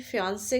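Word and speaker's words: fiancée: लड़के की जो मंगेतर है उसको भी फियांसे कहते हैं लेकिन वो डबल ई के साथ है.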